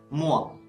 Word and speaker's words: moi: The letters O and I in the same word are pronounced like wa. For example, moi, moi.